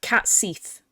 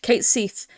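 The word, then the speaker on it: Cait Sith: experiments so hard Cas if so hard cat cat Seath it's pronounced Kate Seath his the way he plays is just really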